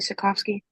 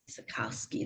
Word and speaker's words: Sakowski: name please officer Sakowski Sakowski that's how you pronounce it all right how are